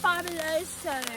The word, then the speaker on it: Fabuloso: It's pronounced fabuloso, Ron.